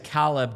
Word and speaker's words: Caleb: it is in in in French Canadian way it is Calb do.